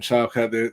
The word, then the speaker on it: Shavkat: the beginning, they were kind of hyping up Shavkat. That's how you say his name? I was trying to figure out how to pronounce his name.